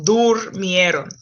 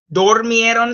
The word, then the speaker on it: durmieron: You have to be careful with words like dormir that are weird stem changers in preterite. Okay, they slept. Durmieron. Dormieron should sound weird.